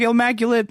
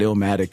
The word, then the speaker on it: Illmaculate: We were like Illmaculate and Intuition. Backpacker ass names. I'm good. It's true. You know, most people just mispronounce it Illmatic anyway.